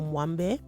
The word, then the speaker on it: Moambe: So I found out Moambe is actually, it seems to be like a Belgian influenced pronunciation of the word. So the Lingala version is actually pronounced Moambe or Mwambe. But Moambe is basically a stew